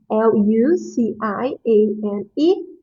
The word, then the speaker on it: Luciane: This Luciane, I know that is a little bit hard to pronounce. So it's Luciane. Luciane.